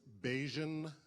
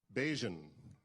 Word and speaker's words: Bajan: My name is Bajan. Bajan rhymes with Cajun.